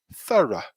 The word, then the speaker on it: thorough: can see is that it's actually easier to pronounce than it seems because it's quite a short pronunciation so it's thorough thorough thorough so if we look